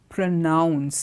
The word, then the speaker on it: pronounce: The first word is pronounce. If you look at how I am saying it, noun, pronounce, pronouncing, pronounced. The sound N-O-U-N is rounded.